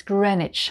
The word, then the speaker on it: Greenwich: vista village just outside of oxford and it's pronounced bista now the next group ends with which w-i-c-h and number 17 is greenwich at the famous time the greenwich time is